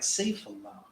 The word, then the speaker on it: Sefula: The God's name sounds like Saifullah, but it's spelled Sefula.